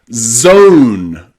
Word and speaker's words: zone: So, any word that you see with O-N-E or O-M-E usually means that magic E at the end has changed the O pronunciation to O, from O to O.